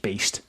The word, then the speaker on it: Baest: So to me that sounds based, but they're Danish death metal band, so I'm assuming it's just Beast. But the way it looks like Bay and based.